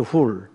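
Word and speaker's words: Hur: 벤 아들이라는 뜻입니다 어허 원래 풀이라고 읽어야 돼요 훌 그러니까 훌의 자손이라는 뜻입니다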